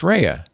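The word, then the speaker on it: Rhea: and Better Call Saul and I called her Ria Seahhorn. And I got an email from somebody who said it's pronounced Rehea.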